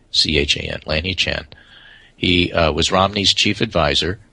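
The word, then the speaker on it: Lanhee Chen: one named lanhi Chan l-a-n-h-e-e-c-h-a-n Lanny Chan he was Romney's Chief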